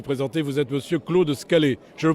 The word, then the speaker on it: Scalet: Vous êtes monsieur Claude Scalé. Je le prononce bien ?